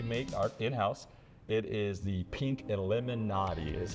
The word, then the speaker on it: Pink Lemonati: It is the Pink Illuminati is how it's actually pronounced.